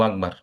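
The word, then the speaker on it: أكبر: এখানে একটা কাফটাকে সুন্দর করে বলতে হবে আল্লাহু আকবার।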